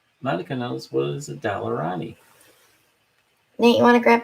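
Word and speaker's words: Daler-Rowney: Actually, it's pronounced, Shelley's Dalarani. Dalarani.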